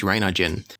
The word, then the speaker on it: Reinigen: The Gieseler Audio Reinigen here, and I've checked the pronunciation since I started the video, so it is Reinigen.